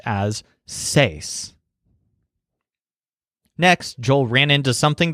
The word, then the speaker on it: seis: The number 6, which kind of looks like a twisted upside-down microphone, is pronounced as seis.